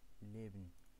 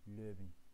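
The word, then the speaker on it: Leben: كما ترون هنا حرف اي فنطق لي، نطق بحرف لي اي ليبن وليست لوبن.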